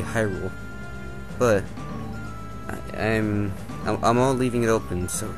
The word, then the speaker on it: Hyrule: opposite of hello goodbye goodbye it's accented on good goodbye so as this shown being one word i'm pretty sure it's supposed to be hyrule but i'm i'm all